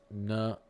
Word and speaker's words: Nevada: I live in a town called Nevada, but it's pronounced Nevada.